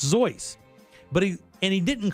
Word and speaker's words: Seuss: name is actually pronounced zoy right it's the German pronunciation of what you see as Seuss but it's pronounced zoy but he and he